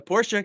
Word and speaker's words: Porsche: catch that Pi I said it right the Porsche cup and we we are at uh Catalonia